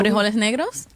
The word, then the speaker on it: frijoles negros: Frijoles negros.